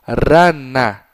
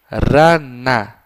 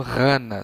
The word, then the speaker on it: rana: Então, rana. Rana. Se você não consegue fazer este som de R, pode pronunciar para o seu pequeno rana, sem nenhuma dificuldade.